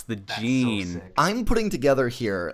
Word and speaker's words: Jin: playing through Tekken 7 the way they pronounce Jin they pronounce it Jean and so I think